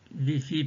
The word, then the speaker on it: ViPHi: de la respiration wifi alors wifi s'appelle vifi parce qu'on parle de vivance phonique isoé vifi s'écrit VI I